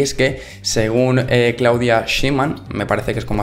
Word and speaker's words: Claudia Sheinbaum: los mexicanos y mexicanas, y es que según Claudia Sheinbaum, me parece que es como así se pronuncia, que esto lo ha comentado en ESPN,